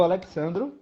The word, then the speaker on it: Alexandro: Bom, eu sou o Alexandro. Essa é a pronúncia que meu pai disse que era correta do nosso nome.